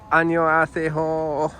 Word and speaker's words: 안녕하세요: 안녕하세요.